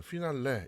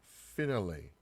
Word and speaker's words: finale: 그 다음에 뭐 최종의 뭐 마지막 이런 말인데 자 이것도 우리는 피날레 이렇게 읽지만 읽어볼게요. finale, finale. 자 finale 이런 식으로 자 finale 뭐 이렇게 읽으면 돼요.